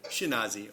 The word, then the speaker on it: Skenazy: Leah Skenazy. Skenazy, I pronounced that correctly? Almost? All right. Skenazy, okay.